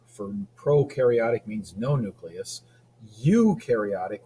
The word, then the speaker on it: eukaryotic: procaryotic means no nucleus you carotic rhyme you with true you carotic organisms have a true nucleus you is true